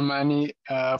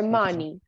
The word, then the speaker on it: many: What is the pronunciation of that word? Many. Many? Many. Or money? Many. Many, very good job. Mm-hmm. If you say money, you are saying another.